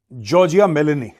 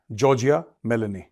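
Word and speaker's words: Giorgia Meloni: ठीक है, ये तो जॉर्जिया मेलोनी, this is हाउ you pronounce the name, जॉर्जिया मेलोनी।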